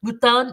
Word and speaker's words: mouton: Mouton is how you say it in French. Mouton is my favorite and it's everywhere.